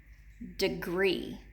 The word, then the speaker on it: degree: look at the word degree degree now we have an e in both syllables when we say the word degree degree we're gonna split